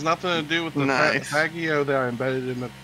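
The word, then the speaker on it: Faggio: registered it as an off-road vehicle I suppose fago is kind of a slurf ob8 eclipse I mean that's what the vehicle name is I think it's actually pronounced fagio it's Italian yeah it is fagio I know but we I'm sorry how do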